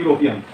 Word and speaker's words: European: So it is that the rules is that some words are pronounced with the consonant sound beginning with vowel such as what? U, O, E, as in university, European.